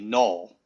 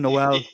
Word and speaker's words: Jaylen Noel: receiver from Iowa State his last name is actually Null. Null. Yes. It's it's not it's not it's not the on version Noel.